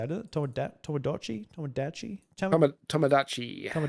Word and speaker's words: Tomodachi: Tomodachi Tomodachi Tomodachi Tomodachi Tomodachi Life Living the Dream demo.